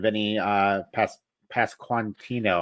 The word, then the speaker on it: Pasquantino: And they have a young Anthony Rizzo and Vinny Pasquantino, I think is how you say his name.